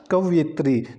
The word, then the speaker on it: कवयित्री: तो जो कवि है तो कवि का जो स्त्रीलिंग होगा वो कवयित्री होगा। तो सी ऑप्शन इसका बिल्कुल सही हो जाएगा। तो हमारे पास जो कवि है तो कवि का स्त्रीलिंग क्या होगा, कवयित्री।